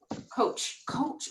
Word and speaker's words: Koch: Koch.